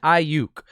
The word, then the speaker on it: Aiyuk: let's talk about who this kid is brandon i yook you say vinay it's i you for all